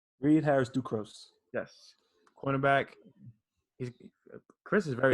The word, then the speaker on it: Reid Harrison-Ducros: Reid Harrison-Ducros.